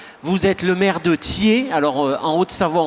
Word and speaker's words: Thyez: êtes le maire de ther alors en haut de savoir on prononce pas les Z ni les X d'ailleurs et et premier vice-président